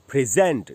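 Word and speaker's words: present: प्रेंट इन the class और जब इसको वर्ब की तरह यूज करेंगे तो उसका उच्चारण बदल जाएगा और उच्चारण हो जाएगा प्रेजेंट देखिए फी ज में जो अ है उसी पर स्ट्रेस है उसी पर रुकना है उसके बाद है आधा न और ट प्रेजेंट प्रेजेंट सेंटेंस में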